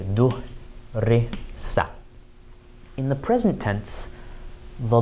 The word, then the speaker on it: دُرِسَ: was studied, we would, instead of saying darasa, fatha, fatha, fatha, say duhrisa.